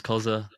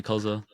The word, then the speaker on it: Cxzza: my friends call me Koza yeah you prefer then it's pronounced Kaza right yeah it's pronounced it's a